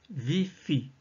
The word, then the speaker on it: ViPHi: Tout à l'heure, nous allons utiliser la respiration nommée viifi qui signifie vivance OK. En inspirant, on prononcera vie, vi dans la tête.